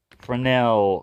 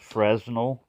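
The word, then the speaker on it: Fresnel: it's like a big frenel lens don't be worried if you're mispronounced it because it's a French word in most of my life I pronounce it as the way it's spelled fresnal it's called This is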